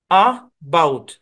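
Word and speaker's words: about: শোয়ার সাউন্ড হবে আ অর্থাৎ এই শব্দের উচ্চারণ হচ্ছে এবাউট আবাউট এবাউট না আমরা এবাউট বলি কিন্তু এটা অরজিনালি এবাউট না এবাউট এবাউট এবাউট এরকম আরেকটা উদাহরণ দেই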